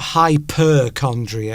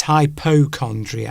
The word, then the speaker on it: hypochondriac: Because it's not hyperchondria, is it? It's hypochondriac.